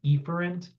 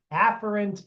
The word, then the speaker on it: afferent: Sometimes you'll hear people say efferent because it's easier to hear, but that is mispronouncing it. So you have afferent neurons.